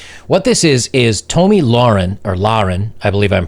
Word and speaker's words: Lahren: of time and what this is is tomi lauren or lauren i believe i'm pronouncing that right tomi lahren is a like a news correspondent or pundit